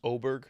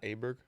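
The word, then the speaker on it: Åberg: Does that bother you that his last name is pronounced Aberg, not Aberg?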